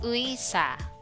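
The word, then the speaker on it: 의사: the location example is uisa if it's placed in the first syllable of the word the sound is ui again example is in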